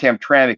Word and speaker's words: Hamtramck: yeah Hamtramck is got and and it is pronounced Hamtramck even though it's missing the vowel and mck